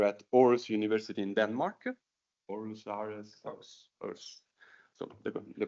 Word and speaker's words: Aarhus: Aarhus. So the pronunciation was correct.